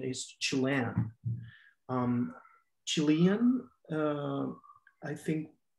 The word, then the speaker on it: Chilean: Some people will say Chilean with an accent in the first part of the word, Chilean, right? But I think the right way to say it is Chilean in English, yes.